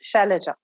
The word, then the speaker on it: Shailaja: you know and now the world knows is shellaja and uh because people found it difficult to pronounce and it was awkward and uncomfortable and